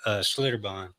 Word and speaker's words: Schlitterbahn: I took my girls to the Schlitterbahn.